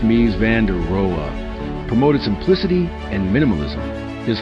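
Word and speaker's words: Mies van der Rohe: Lewig Mai Vanderero Mai Vanderero pronounced mi vanderea promoted simplicity and minimalism.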